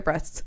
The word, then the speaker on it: Brest: Okay, so Brest. Breast. Back to breast. It's spelled Brest, so.